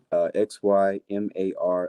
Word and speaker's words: Xymar: uh you can find me on instagram at xymar underscore that's your mars pronunciation that's my middle name uh yes x